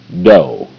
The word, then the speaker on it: dough: GH is silent. OU is irregular.